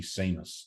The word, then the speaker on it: Sheamus: that perhaps some of the not quite so bright Australians might uh not call me Seamus so um the H was really just a pointer to um to uh for people to get my name wrong well I think the